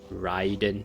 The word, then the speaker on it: Raiden: all the r conquests i called her raiden shogun which is um i guess how we english people would pronounce that word but it's apparently ryden because rye is like like thunder or something or lightning or something in japanese or i'm just